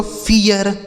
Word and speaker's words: fear: FEAR, यप से हो गया दोस्तों फ, इस ई और ए का उच्चारण ई, आर से हो गया र, यह लिखा गया दोस्तों फियर।